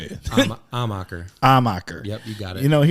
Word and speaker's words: Amacher: People like putting an R in there. Armacher. I think the traditional German there was an H at the front. But I don't know. Maybe all munchies. If you pronounce it amateur, you're not too far off.